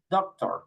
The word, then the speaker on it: doctor: In English, they say doctor, no? Doctor. The accent, the emphasis is different. Doctor, in Spanish. In English, doctor.